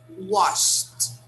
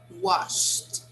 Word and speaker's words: washed: regular so it becomes washed washed okay just like that we don't say this vowel and we don't pronounce the d okay a verb that